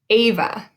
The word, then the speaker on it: Ava: Keegan, Ava, Corbin. And you'll notice with all of them, we say the first syllable just a little bit louder. We say Keegan, not Keegan. Ava, not Ava.